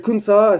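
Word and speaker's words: Khun Sa: Je vais vous parler d'un trafiquant de drogue qui s'appelle Kunsa, ça s'écrit, si vous voulez voir, ça s'écrit K-H-U-N-S-A.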